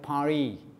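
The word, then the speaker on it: Paris: versus বাসা এরকম তারপরে আমরা বলি প্যারিস কিন্তু ওরা অনেকে পারি বলে ঠিক আছে ফ্রেঞ্চরা কিন্তু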